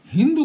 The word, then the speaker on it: हिंदू: तो वो जो पारस के लोग थे, वो अपनी भाषा में सा शब्द का उच्चारण हा करते थे। तो वो सिंधु के किनारे रहने वाले लोगों को हिंदू कहने लगे सिंधु के स्थान पर।